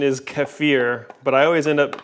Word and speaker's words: kefir: And the correct pronunciation is kefir, but I always end up calling it kefir.